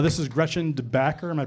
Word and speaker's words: DeBacker: This is Gretchen DeBacker. Am I pronouncing that? That's, yes. DeBacker.